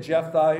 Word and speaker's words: Jephthah: by faith so we're going to look at Jeff thy here in the Old Testaments it's j-e-p-h-t-h-a-h but in the New Testament spelled like that in e instead of H and